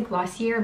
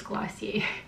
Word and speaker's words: Glossier: I always wanna say Glossier, but I think it's Glossier.